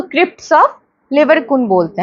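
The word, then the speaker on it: Lieberkühn: Between the villi, दो villi, सबसे पहले क्रिप्स ऑफ लिबरकुन, दो विलाई के बीच का जो स्पेस है that is crypts of, pronunciation करो तुम मेरे साथ, फिर तुमको दिक्कत, ऑफ लिबरकुन, ठीक है।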